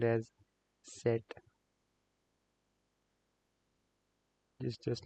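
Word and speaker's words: Zett: handful but that's what it is Zed let pronounced as set just just like we looked up it's similar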